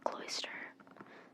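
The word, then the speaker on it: Cloyster: yeah what they said cloister c-l-o-i-s-t-e-r but cloister is also like an oyster so it's like cloister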